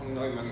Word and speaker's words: Neumann: Neumann se pronuncia. Neumann.